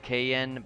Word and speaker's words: Cayenne: Mer to the West Duke Kion maybe pronounced KN but I like the sound of cayenne better I'd love to stay